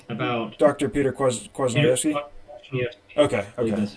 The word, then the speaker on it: Kwasniewski: Kwasniewski. Okay, I believe okay. that's how it's pronounced.